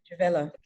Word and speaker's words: Jemila: Jemila.